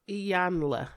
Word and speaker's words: Iyanla: Is it Ayana or Ilana? Like, it's spelled so weird, I have no idea. Iyanla. Okay, Iyanla. Don't ask me her last name.